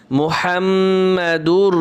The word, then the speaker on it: মুহাম্মাদুর: করে এখানে বলি ইল্লাল্লাহু বলি এখানে হবে ইল্লাল্লাহু মুহাম্মাদুর রাসুলুল্লাহ মুহাম হামিম জবর হাম ওয়াজিব গুণ হবে মুহাম্মাদুর রাসুলুল্লাহ একশে পড়বো এখন লা ইলাহা ইল্লাল্লাহু মুহাম্মাদুর রাসুলুল্লাহ।